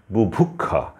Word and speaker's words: বুভুক্ষা: পরীক্ষা অক্ষয় তারপরে গুভুক্ষা বুভুক্ষা এই শব্দটির উচ্চারণ হচ্ছে ক খ এর মত অক্ষাংশ পক্ষান্তরে পাক্ষিক এখানে